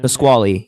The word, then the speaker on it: Pasquale: Twitch account it is how do you say that pesquali is that what you were doing Pasquale yeah you got it all right it's like